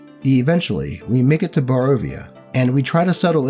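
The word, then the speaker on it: Barovia: the whole way to bavaria i just realized that i've been mispronouncing that up until now only stopping to rest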